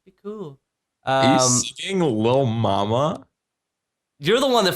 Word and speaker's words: Lil: Who calls himself Little Mama? It's not little, it's Lil.